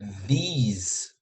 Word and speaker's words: these: Esse aqui parece que tem um I mais alongado, parece que tem um Z no final. Isso aqui é puramente o S. This. These. Entendeu? Então, assim, o foco da diferença de pronúncia é nesse E daqui do meio, que parece um I mais alongado, que se junta com um Z do final.